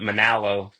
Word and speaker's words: Monallo: But over the years, it's kind of got rounded off to kind of rhyme with Mahalo.